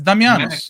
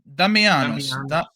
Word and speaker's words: Damianos: in the bank bro it's damios you can't you can't read it damianos there you go sheel Sinclair Clark Mills